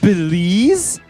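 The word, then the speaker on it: Beelze: again number 12 BLS b e e l z e is pronounced Belize get the [ __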